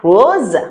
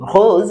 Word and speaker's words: rose: Okay, to the color rose. Rose. If you can't say rose, like the way I say it, you can say rose.